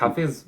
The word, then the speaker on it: Hafiz: Ça se prononce Hafiz ou Hafid? ouais, c'est exactement ça. Hafiz, ok.